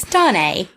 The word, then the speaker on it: Stane: Because it's not spelled like that. It's it's Stane. It's Stane.